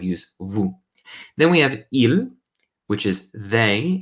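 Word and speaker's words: ils: Now, you may have noticed the pronunciation of il and il is exactly the same.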